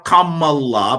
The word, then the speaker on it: Kamala: Unless you are the Berkeley school, unless you are Kamla's parents, unless you are Kamala, by the way, that's how you say her name.